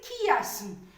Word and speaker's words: chiasme: nous remet à londres prononcé chiasme pourquoi parce que le s se trouve entre une voyait et il consomme mais on a l'habitude de dire qu'il ya comme tourisme on dit pas touriste tourisme mais on dit tourisme